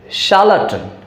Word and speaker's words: charlatan: अब आर के बाद एल है, एल कॉन्सोनेंट है तो आर को साइलेंट करके बोलेंगे, तो क्या बोलेंगे, शार्लटन, शार्लटन, शार्लटन, ना कि शार्लटन, शार्लटन, शार्लटन। CH यहाँ चा नहीं बल्कि श होगा, शार्लटन, शार्लटन, ठीक है।